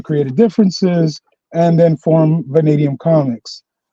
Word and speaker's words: Vanadium: How do you pronounce that, man? It's Vanadium Comics.